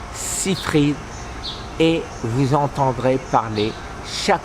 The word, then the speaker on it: Seyfried: su alsacien l'auris hybrid bien sûr mais ça se prononce à l'américaine thomas site read et vous entendrez parler